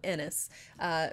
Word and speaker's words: Aenys: I'm gonna say it Aenys because I want to keep saying it Aenys, and then I realized that what that sounds like, and it's spelled Aenys. But so I'm gonna call him Ennis.